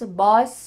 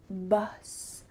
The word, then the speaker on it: bus: final word is bus sometimes this short u sound can be a little bit tricky so I want to make sure you're not saying booths boss the boss make sure you say uh bus bus bus alright let's go back